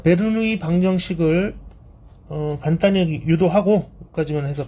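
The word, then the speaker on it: Bernoulli: 베르누이 방정식. 들어봤을 수도 있습니다, 여러분. 자, 영어식으로 읽으면요, 버눌리 이케이션이라고 합니다.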